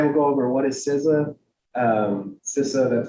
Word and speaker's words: CISA: yeah today I will go over what is sizza um ciso that's how we pronounce it um cisa compared to partner agencies uh a little bit